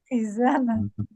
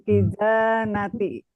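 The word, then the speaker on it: خزانة: Khizanah. Iya. Sekali lagi Bu bacanya. Al-saubu fil kizanati. Nih, kata pertama ada makhraj yang belum ajak betul.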